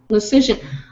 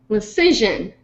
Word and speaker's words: Lision: thanks for the lessons my last name is pronounced decision but with an l lision oh there you go lision all right lision and